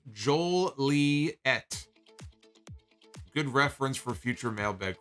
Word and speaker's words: Joliet: theme I think also my hometown is pronounced Joel Lee ET good reference for future